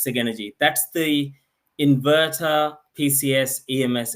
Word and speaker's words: Sigenergy: called the saen store the company name is pronounced Sig energy if you ask our German friends or european friends they might say sa energy but anyway in Australia New Zealand we'll call it Sig energy the product itself is called saen store it's